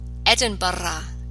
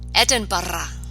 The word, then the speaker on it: Edinburgh: Scotland's capital city roll the R or to Edinburgh Edinburgh no to a new word that you may